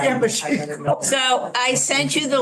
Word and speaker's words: Imogen: And How do you I, pronounce the name? Imogen, Imogen.